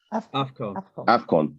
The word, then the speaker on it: AFCON: I never know how to pronounce the. I think it's AFCON. AFCON.